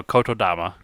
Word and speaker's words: Kotodama: and then analog yes so Coto dama pretty much as it sound analog and then there's